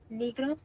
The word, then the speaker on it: Negro: don't know what is in in English but negro inan okay and it's her last name is pronounced negro it's n e g r o okay all